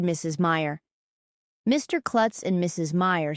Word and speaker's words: Meyer: It will be easy to remember my name because Meyer rhymes with fire.